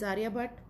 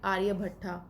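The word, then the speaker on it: Aryabhata: India's first satellite was, that is Aryabhat, or you can pronunciate it Aryabhatta, it's your wish।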